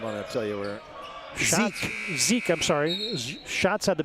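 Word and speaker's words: Zich: shot clock buzzer and he missed it Ethan Zeke a 6-3 scene or Junior then Adam Eberly six foot Junior Zeke I beg your pardon yeah it's spelled z-i-c-h but you told me that I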